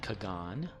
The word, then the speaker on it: Kagan: pronounced a certain way the game pronounced it Kagan because that's what one of the voice actors says to him during one of the intros Kagan I guess it's like Carl Sagan one thing that bothers